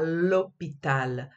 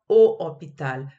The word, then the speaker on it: hôpital: elle travaille à l'hôpital le h il est muet donc elle travaille à l'hôpital pas au hôpital phonétiquement ça sonne mal donc elle travaille à